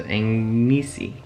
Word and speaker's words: ngisi: So in order for me to pronounce that sound, it's almost like I have to say a word that has the NG sound in it and then add isi at the end. So ngisi.